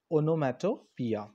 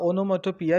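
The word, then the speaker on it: onomatopoeia: घेतो तेव्हा त्या फिगर ऑफ स्पीचला आपण म्हणतो ओनोमॅटो पिया सो हा जो ओनोमेटोपिया हा अलंकार आहे ओनोमोटोपिया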